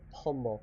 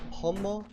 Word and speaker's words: pomo: we can link it with but just remember Pomo it's spelled p o m o n again I